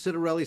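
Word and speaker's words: Ciattarelli: I you know, the last uh time that Jack Ciderelli uh ran, and remember it's Citerelli.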